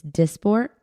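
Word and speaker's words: Dysport: what so Mandy does Botox I do it's disport disport okay I've been pronouncing it wrong I get it injected in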